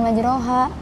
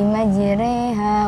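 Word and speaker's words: مجريها: Nah, ini dibacanya bukan majroha tapi bismillahi majriha wa mursaha.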